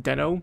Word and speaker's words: Deno: It's actually pronounced Deno, but I like calling it Deno.